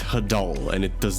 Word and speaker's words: hadal: going for something more ocean themed but it's pronounced hadal and it does not have a nice ring